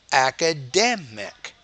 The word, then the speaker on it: academic: apply four important characteristics you need to make that syllable clearer louder longer and then what you're not doing is making it higher pitch academic AKA University right so